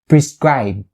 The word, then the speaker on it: prescribe: good at it and you can stop it like this prescribe prescribe just like that make a little sound for the b cell so you have